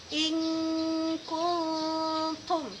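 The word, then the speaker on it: إِنْ كُنْتُمْ: Kita contohkan bacaan in kuntum. Tulisannya in kuntum. Tapi dalam ikhfa kita membacanya menjadi in kuntum.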